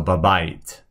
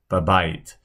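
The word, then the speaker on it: בבית: So it's going to be spelled either way at times, but it's pronounced the same way. So babait, babait.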